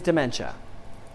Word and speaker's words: DemenCha: me a little bite my name is dementia so it's just like it's it's spelt like it's sound it's d-m-e-n-c-h-a you can